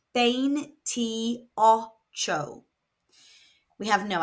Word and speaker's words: veintiocho: It is pronounced bane troo. We have no accent on this word. So the second to last syllable is going to be stressed.